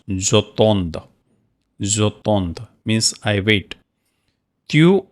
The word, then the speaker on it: j'attends: If any word starting with E, again you have to write here J apostrophe, and that is pronounced j'attends.